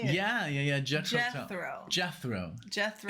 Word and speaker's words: Jethro: lost against Jetro uh jet tell I can't say it man I'm sorry judging how you say it yeah yeah Jethro Jethro it's like death row Jethro it's Jethro talk